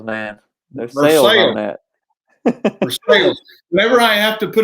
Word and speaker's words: Versailles: Versailles, man. There's sales on that. Versailles.